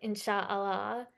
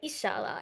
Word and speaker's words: inshallah: Um, and I think like Arabs pronounce it differently. I think they say like Insha'Allah, but Persians say Inshallah.